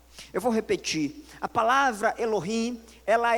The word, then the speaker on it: Elohim: Então, pronuncie após mim, Elohim. Mais uma vez, 1, 2, 3, Elohim.